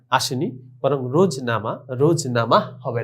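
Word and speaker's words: روزنامہ: রোজনামা শেষে দেখো মিম হে হে রয়েছে কিন্তু উচ্চারণে আসেনি বরং রোজনামা রোজনামা হবে না তারপরে গাফ হে গা এটা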